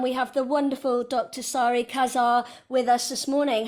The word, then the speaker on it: Sari Casaer: to Belgium and we have the wonderful Dr sorry Kazar with us this morning how are you doing